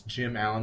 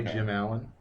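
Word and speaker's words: Gim Allon: get to colossal boy it's Jim Allen but it's spelled g i m a l l o n i just say Jim Allen and I say Lorna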